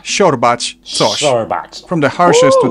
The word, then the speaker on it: siorbać: She. It's like a softer sh, which I've already compared to English sh in shoe. Siła, siorbać, coś.